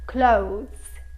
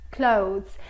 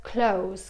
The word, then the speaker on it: clothes: Clothes. Clothes. Fermo la lingua per il TH dietro i denti e poi pronuncio la S. Clothes. Ok, se vi risulta troppo difficile potete anche dire close, come nel verbo close, chiudere, ok?